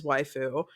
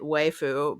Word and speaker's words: waifu: As I pointed out in the replies on Twitter as well, I'm aware that it is waifu. I was intentionally pronouncing it waifu because it's not wife forest.